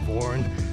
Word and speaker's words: Vorn: So I think I sort of settled on V-O-R-N because it was short. You could relate to the pronunciation pretty much instantly. And Americans would get the vowel right.